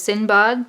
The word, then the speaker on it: Sindbad: the Arabian Nights and it Sinbad or the proper pronunciation which is sin bug being carried off by